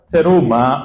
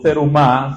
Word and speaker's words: Terumá: Teruma o Terumá, según cada quien pronuncie.